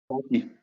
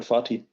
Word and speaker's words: Fatih: Is that how you pronounce that? Fatih. It's called Fatih.